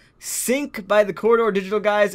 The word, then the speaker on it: Sync: No, it's Sync. S-Y-N-C. Like sinking. Yeah, S-Y-N-C. That's how it's spelled.